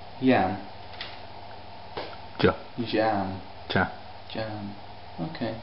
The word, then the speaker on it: Iam: The I, how do you pronounce the I? Yam.